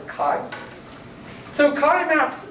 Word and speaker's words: chi: saying chi wj so sometimes i'll just pronounce that as kai so kai maps o